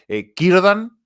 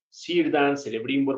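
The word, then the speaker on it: Círdan: emparentados en estos días kirdan que empieza con c pero sonaría como con k y kb bien keleb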